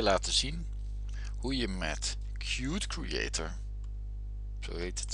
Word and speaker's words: Qt: Hallo, ik ga je laten zien hoe je met Qt Creator, zo heet het, zo schrijf je het, Qt Creator, Qt spreek je het uit, hoe je daar een simpele graphical user interface programma mee maakt.